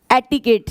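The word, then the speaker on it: etiquette: इसकी actual pronunciation होती है एटिकेट।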